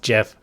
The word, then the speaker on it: GIF: know that it's pronounced gift because gif stands for graphics interchange format there's no J in the word graphics as far as I